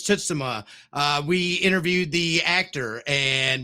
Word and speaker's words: Tsushima: That's how it was pronounced. Actually, it's Tsushima.